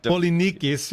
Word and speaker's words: Polynices: Polynices. Polynices, yeah. Yeah, don't. Polynikes, probably, right, is what it would be in Greek.